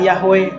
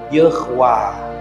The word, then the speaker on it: Yahweh: Padahal tidak ada bacaan Yahweh. Ini huruf, ini tanda baca E, ini tanda baca A panjang. Jadi bacanya Yehwah.